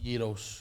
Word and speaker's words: Gyros: it Scout's Gyros so how do you say itos with with a Y imagine y e EOS Yos yes nice I've never